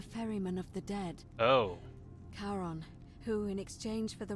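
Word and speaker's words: Charon: it's just as you described it only your pronunciation is a little off the name you heard wasn't karen it was c-h-a-r-o-n as in caron the ferryman of the dead oh karon who in exchange for the right coin helps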